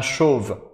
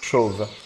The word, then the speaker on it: chauve: Un chauve. ¿Cómo? Chauve. ¿Cómo se pronuncia?